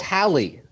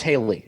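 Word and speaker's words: Hailie: It's Hallie. Oh, no, it's Haley. Okay, it's spelled, looks kind of like Hallie, but it is Haley.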